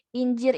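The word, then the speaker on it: incir: Injir ini artinya buah tin.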